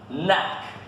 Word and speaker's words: knack: Então, ó, presta atenção nesse som, tenta repetir, ó, man, tan, knack, o K antes do N a gente não pronuncia, knack, pat, bat, bat.